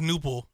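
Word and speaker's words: Knueppel: Knipple? Con Knipple. Knipple. And that's weird. How they pronounce it. Okay. I thought it was Knipple.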